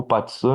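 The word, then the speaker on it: 八字: O Bazi é a astrologia, ou Patsan, né, na pronúncia chinesa original, é a astrologia dos oito cais, certo?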